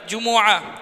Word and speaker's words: جمعہ: جمعہ کا صحیح تلفظ ایک تو جمعہ ہے، جیم پر پیش میم پر پیش عین پر زبر جمعہ، دوسرا ہے جمعہ، تیسرا